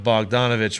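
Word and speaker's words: Bogdanović: I said his name wrong. There's so many. He called him Boban Bogdanovich, which then threw me fucking way through a loop.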